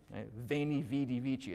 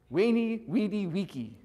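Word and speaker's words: veni, vidi, vici: okay ah fun fact so we're all learning the ecclesiastical pronunciation veni vidi vici it sounds pretty strong right I came I saw I conquered do you want to know what it sounds like in classical Latin if Caesar actually said that he would have said weenie weedy Wiki yeah no it doesn't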